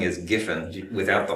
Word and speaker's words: Giffin: But so it's Giffin, not Griffin, right? Yes, you said it correctly.